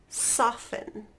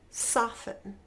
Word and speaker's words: soften: hustle and bustle great next one Christmas listen soften good one more time hustle and bustle Christmas listen soften all right last letter is the silent W